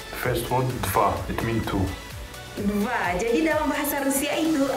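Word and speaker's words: два: Dva. Jadi dalam bahasa Rusia itu ada kata-kata deva. Is it correct the pronunciation?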